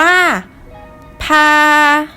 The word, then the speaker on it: พา: สามัญ นั่น เอง ค่ะ คำ นี้ จะ อ่าน ออก เสียง ว่า พา แต่ ถ้า อา แต่